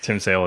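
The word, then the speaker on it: Tim Sale: art wise say it it rhymes with sim tail yes Tim sail is definitely my artists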